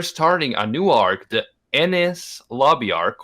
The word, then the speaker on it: Enies Lobby: a new arc the Ennis Lobby arc or any lobby our color you wanna pronounce I don't know whatever it's not anus I've heard that it's